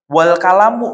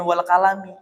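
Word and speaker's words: وَالْقَلَمُ: Wal kalamu misalnya. Wal kalamu loh, kok dibacanya wal kalamu bukan wal kalami? Iya, karena wawunya bukan wawu qasam, tapi wawu istinafiyah misalnya.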